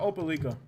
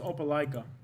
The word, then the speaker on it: Opelika: be let's look at opeliga and i'm sure i'm pronouncing that wrong still i think it's pronounced opelika like kind of like opa-locka in florida you can buy a